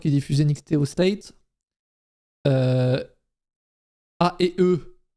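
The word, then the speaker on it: A&E: A et E, je le prononce à la française, qui diffuse LFG, les trucs.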